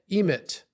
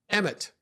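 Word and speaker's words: אמת: water but together Al if mem Tav is pronounced emit emit EMT that's a Hebrew word and it means truth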